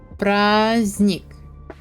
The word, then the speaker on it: праздник: The N, D is not pronounced. Праздник. Поздно. Звездный. No D. No D for you guys.